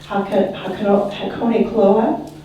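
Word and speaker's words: Hakonechloa: than Japanese forest grass, it's a coney grass. So if you say Hakone Cloa, then you've got it.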